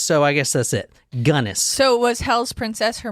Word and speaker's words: Belle Gunness: her name is so I guess that's it gunnis so was hell's princess her moniker yeah she